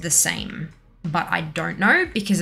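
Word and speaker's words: the SAEM: the s-a-e-m but it's i believe it's pronounced the same but i don't know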